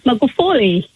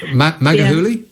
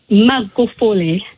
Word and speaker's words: Magufuli: My pronunciation is exactly like how you couldn't pronounce Magufuli, because English is not my first language. No. Magahuli? Magufuli. Magahuli. No. Yes. Gu. It's the gu which you can't pronounce properly. It's gu. Go. Magufuli. Magahuli.